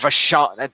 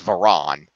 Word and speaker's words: Varon: It's not Vachon. They spelled her name wrong. It's not Vachon. It's Varon.